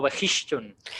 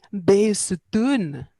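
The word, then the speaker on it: Bisotun: te haga una corrección, que es mejor pronunciarlo como Behishun. Pero es que no es así, porque yo se lo preguntaba a mis alumnos persas, digo, esa Ajá. H, porque ellos me dicen Beisutun.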